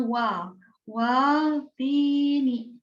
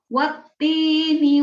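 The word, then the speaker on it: وَالتِّينِ: setelah Bu Nur koreksi, ada yang bacanya wal, tini. Nah, tapi ada juga, banyak juga anak-anak yang sudah membacanya sudah baik. Cuman Bu Nur bahas sedikit di sini ketika membaca wat. Ini langsung masuk huruf ta ya, karena di sini ada tasdid. Wattini wazzaitun.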